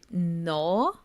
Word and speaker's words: gnaw: a g n a with a silent G so that wasn't the word you you meant it is it is not but it's such an awesome one because it has two it's lightly like two really Advanced patterns like the the silent G and the a w of a ah la a there's no drop in the vowel sound it's not a diff thong like it's